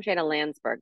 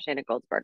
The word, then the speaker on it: Shayna Landsberg: Shayna Landsberg, not Shayna Goldsberg.